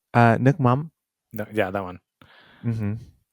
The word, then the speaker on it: nước mắm: Oh, nokcham? Is that how you pronounce it? Nước nước mắm.